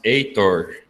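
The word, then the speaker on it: Heitor: a hector yes in in portuguese we pronounce eitor yeah i know i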